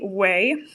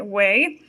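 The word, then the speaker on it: Quay: And it is the Way. It's spelled Q-U-A-Y. Way.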